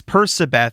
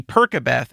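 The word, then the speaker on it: Percabeth: ship is called uh persibeth no sub it's persibeth and it's spelled p-e-r-c-a-b-e-t-h that makes sense yes and the pronunciation makes sense but i know my brain when i read it i see percobeth and i know this is i am told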